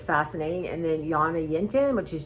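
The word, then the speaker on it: Jonna Jint: it's fascinating and then Yana yint which is j o n n a j i n t um o n and she's Swedish and the J's are pronounced like a y so and her she's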